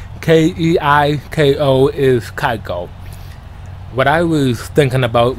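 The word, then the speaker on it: Keiko: car bobby's in a mustang keep i said kiko in the previous episode but i learned the other day that it was it's pronounced kaiko k-e-i-k-o is kaiko what i was thinking about was kiko kiko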